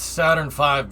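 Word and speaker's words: Saturn V: were really nice cool it's pronounced saturn 5 because the v is silent and the 5 is loud yeah yeah yeah yeah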